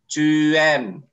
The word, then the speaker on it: tu aimes: Ini kalau tu menjadi tu aimes. S-nya nggak dibaca ya, tu aimes.